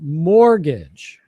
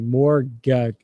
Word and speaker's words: mortgage: Yes, the T is silent, so you pronounce it mortgage.